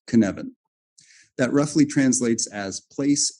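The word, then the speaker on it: Cynefin: completely the knevan framework based on a Welsh word which is pronounced knevan that roughly translates as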